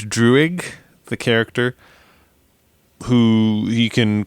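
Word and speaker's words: Druig: Um I think philosophically or morally the 1500 AD one where I think it's pronounced Drewig the character who he can control people where we're seeing people like genocided.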